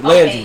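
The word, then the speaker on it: Laundrie: Laundry. It's not laundry. Landry. Okay, yeah. All right. It's spelled like laundry.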